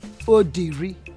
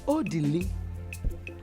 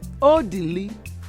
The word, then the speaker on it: Odili: My son's name is not Odiri. See the mouth you use in calling him. Odiri. His name is Odili. Pronounce it. Odili. Pronounce it well. Odili.